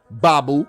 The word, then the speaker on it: Mbabu: saw this guy kevin babu his name is babu the m is silent kevin babu was for